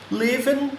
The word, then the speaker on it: living: Living room. Living. Você não pronuncia esse G, tá?